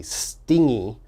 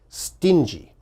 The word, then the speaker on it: stingy: stingy a lot of my students mistakenly say stingy okay you've got to be very careful it is pronounced stingy and what does stingy mean well someone who